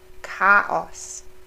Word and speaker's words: Chaos: Remember the ST, st, Stadt, and the CH, k, Chaos.